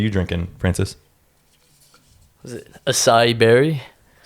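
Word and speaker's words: açaí: Was it acai berry?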